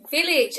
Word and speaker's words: village: number seven is village village i would say the most common pronunciation mistake is mispronouncing the itch sound there at the end so for example he